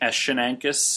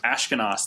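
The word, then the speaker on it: Ashkenas: Jash Ashkenakis, or however you say his last name, is going to be talking. Ashkenaz, that's right.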